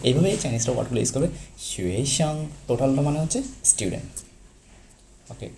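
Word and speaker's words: 学生: ওকে, দেন আমাদের পরের ওয়ার্ড হচ্ছে শুয়েশাং। শুয়েশাং, দেখেন শুয়েশাং। শুয়ের উপর কি? আমাদের সেকেন্ড টোন। সো আমাদের শুয়েশাং। শাংয়ের উপর আপাতত কোনো টোন নেই, সো আপনি নর্মালি শাং বলতে পারেন।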